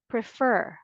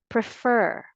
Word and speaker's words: prefer: like the first word its stress is on the second syllable so the correct pronunciation is refer or again the pronunciation of this word is prefer American English and British